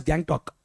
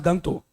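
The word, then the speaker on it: Gangtok: spelling is gang but it's not pronounced as gang talk it's pronounced as gangto clear my difference we don't pronounce this gang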